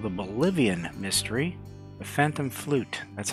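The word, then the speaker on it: fluyt: next leg called the Bolivian mystery the Phantom flute that's how you pronounce that that is a type of ship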